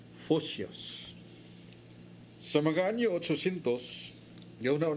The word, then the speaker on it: Photios: Maya ang yangan mo si Pusius, P-H-O-P-I-U-S, pronounced Photios.